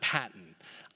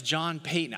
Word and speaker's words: Paton: of you that like saying why is he pronouncing john payton so funny it's actually payton not patton i love john piper wonderful brother he has